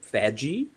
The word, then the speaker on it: FADGI: some background uh about faji that's how i pronounce it uh some pronounce that with a guttural g and then there's the iso 19264.